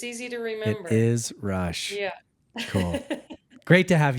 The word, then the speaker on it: Rusch: roou welcome want to make sure I pronounce that correctly it actually it's Rush it's easy to remember it is Rush yeah cool great to have you thanks for